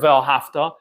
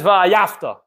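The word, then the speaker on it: ואהבת: The Medrash says, what happens is there's a Yid who can't pronounce the word Ve'ahafta, and he says Ve'ayafta.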